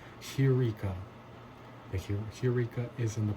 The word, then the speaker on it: heureka: They say eureka, but its wrong pronunciation is hey, this breathing mark right here, heureka.